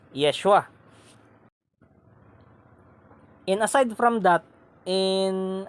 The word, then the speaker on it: Yeshua: ni Jesus ni Kristo in his Hebrew pronunciation which is Yeshua and aside from that